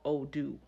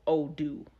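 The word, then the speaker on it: Odù: system that we use is called Odoo, and it's spelled ODU.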